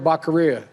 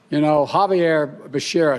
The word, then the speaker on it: Becerra: If a Republican blew Becerra's name this way, there would immediately be cries of racism because how dare you mispronounce Xavier Becerra's name? Here is Joe Biden absolutely mangling this thing. For Secretary of Health and Education Service, I nominated Javier Baccaria. Javier Becerra, excuse me.